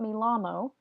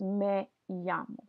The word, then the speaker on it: me llamo: then you also have the double L right here that's pronounced as a yes so this is not me la mo it's me Jung me llamo Taylor Swift